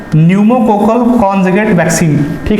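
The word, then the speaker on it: pneumococcal: इसकी नई वैक्सीन है न्यूमोकोकल कॉन्जुगेट वैक्सीन, ठीक है ना। पी कहने का मतलब पी साइलेंट है ना, न्यूमोकोकल कॉन्जुगेट वैक्सीन नाम करके इसकी वैक्सीन है, PCV वैक्सीन।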